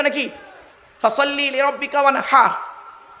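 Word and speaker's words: وانحر: ফাসাল্লি লিরাব্বিকা ওয়ানহার। কি বললাম? ফাসাল্লি লিরাব্বিকা ওয়ানহার। উচ্চারণটা ঠিক রাখুন। ওয়ানহার, ওয়ানহার নয়, ওয়ানহার। এই গলার ভেতর থেকে হে এটা উচ্চারণ করবেন।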